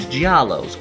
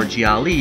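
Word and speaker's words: gialli: westerns euro grind and gialos or Jiali if you want to pronounce the plural version right I'm probably going to screw up and say gialos instead of Jiali plenty in this video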